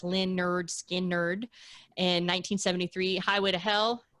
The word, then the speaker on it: Lynyrd Skynyrd: Lynyrd Skynyrd came out with their first one pronounced Lynyrd Skynyrd in 1973 highway to hell ac/dc eat a